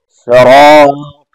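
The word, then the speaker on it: الصِّرَاط: کہ اہدنا الصراط المستقیم۔ پھر آگے آنے والے دو حرف خاص طور پہ، ایک صاد، سین اور صاد، سین صاد، اہدنا الصراط طا، تا طا، تا طا، صراط المستقیم، صاد سے صراط ہے، مستقیم میں سین ہے، اس میں سیٹی بچتی ہے، لحاظ رکھیں۔ صراط الذین، لذین، رال،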